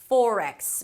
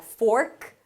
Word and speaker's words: forex: Forex. Make sure you don't drop any sounds at the end so it doesn't end up sounding like 'fork', that's a different word.